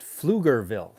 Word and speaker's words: Pflugerville: a young man oh pronounced pflugerville thank you who would have guessed that p was silent but anyways uh okay